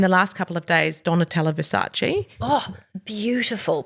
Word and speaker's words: Donatella Versace: And in the last couple of days, Donatella Versace. Oh, beautiful pronunciation.